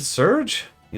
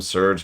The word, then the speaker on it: Serge: Serge, you look troubled. Oh yeah, I call him Serge, not Sergey or Sergey or Sergy or Sergy. I've heard a bunch of pronunciations. I'm just call Serge.